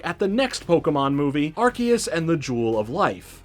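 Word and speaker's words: Arceus: Also, yes, Archus is officially pronounced Archus. I do think Arus rolls off the tongue better, but Archus makes sense in relation to what this Pokémon is and what it can do.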